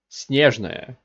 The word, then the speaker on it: Snezhnaya: The Fatui of Snezhnaya are heavily armed diplomats. Snezhnaya. Correct way to pronounce it is Snezhnaya, which is a Russian word for snowy.